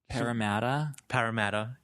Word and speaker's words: Parramatta: Parramatta. Yeah. Okay. Is like an hour out on the train out of Sydney. Get out of here. And I was like, first I was like, Parramatta Park, but this is the one that's like